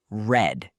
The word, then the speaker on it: read: And in the past, we say red, like the color.